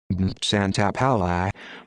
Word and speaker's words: Santapaola: benedetto santa paula italian pronunciation santa palace born the fourth of june 1938 better known